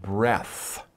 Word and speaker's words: breath: breathe in and breathe out that is one breath okay so when you talk about a breath